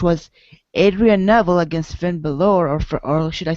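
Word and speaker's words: Bálor: should I say Finn Balor like like many people say uh why do you always have to say Balor because it's spelled Balor actually but some people always say it's Bor because you know it has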